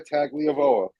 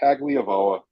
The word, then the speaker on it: Tagovailoa: you mispronounced his last name. I think you mean Tua You, sir, are out of Tagovailoa.